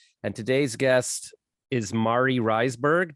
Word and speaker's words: Reisberg: today's guest is Mari riseberg did I pronounce that right close reeberg is my last name oh man because you